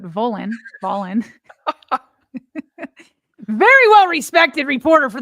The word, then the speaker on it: Volin: And then Ben, I want to say violin, but Volin.